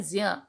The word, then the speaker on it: ज्ञ: से ज्ञानी बोलते हैं पर इसका जो वास्तविक उच्चारण होता है जिय जानि ठीक है जब और